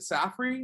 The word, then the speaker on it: Safri: We have John, is it Safri? Is that how you pronounce that? Yep. Perfect. John Safri here.